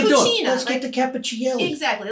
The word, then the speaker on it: Cappuccielli: Anyway, Capp, C-A-P-P, is short for Cappuccielli. I didn't know it was Cappuccielli. I thought it was Capricelli. Oh, it's I pronounce it Cappuccielli. Some people may say Cappuccielli, or how you ever say it.